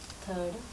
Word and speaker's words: た: Reading താ എന്നാണ് കേട്ടോ. പക്ഷെ നമ്മൾ റോമാജിയിൽ എവിടെ കണ്ടാലും അത് ടി എ എന്ന്, ടാ എന്നാണ് നമ്മൾ വായിക്കുക. മലയാളത്തിൽ വായിക്കുമ്പോൾ ടി എ അല്ലേ. പക്ഷെ താ എന്നാണ് ഇവിടെ.